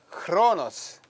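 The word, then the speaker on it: χρόνος: 크로노스 window 크로노스 예 우리가 크로스라고 읽지만 원래 발음은 조금 보다는 좀 약합니다 크로노스 현대 헬라는 그냥 크로스라 그 요 신약 당시에 이야기는 어 크스 우리는라는 단어가 없기 때문에 글자가 없기 때문에 크로스라습니다 크로노스 둘째는 카이로스에 카이로스 여기는 K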